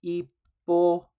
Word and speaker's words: hipotenusa: También en español en español es hipotenusa, se escribe con esa H silenciosa al final, al principio, la hipotenusa o hypotenuse en inglés.